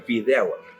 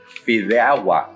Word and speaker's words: Fideuá: Fideuá. Fideuá. Fideuá. Fideuá. Fideuá. That's how they Fideuá.